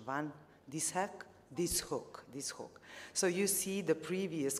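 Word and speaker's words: van Dishoeck: Please help me, Professor Fawkins, about the pronunciation. Van Dishoek.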